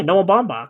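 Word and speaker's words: Noah Baumbach: Noah Bombach. Yeah. He's a good script writer. That's how you pronounce that.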